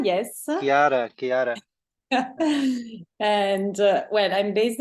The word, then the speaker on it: Chiara: How do I pronounce her name? Chara? So it's Chiara, yes. Chiara.